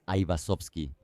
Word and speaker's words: Aivazovski: En italiano, la letra G inicial se pronunciaba de manera poco natural, inusual. Los italianos literalmente tenían que forzar la lengua y el apellido sonaba torpe. Por eso eliminó la letra G y empezó a llamarse Avasovski. Los italianos lo pronunciaban fácilmente, de manera melodiosa, y el apellido adquirió instantáneamente un tono armonioso, casi familiar para la península itálic.